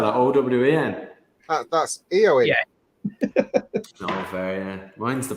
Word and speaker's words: Eoin: how you spell it why why would you spell that o w e n that's eoe yeah mine's the proper way to